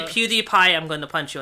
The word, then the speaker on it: PewDiePie: oh I you know the way you said it sound like PewDiePie that's actually how it's pronounced what yeah I don't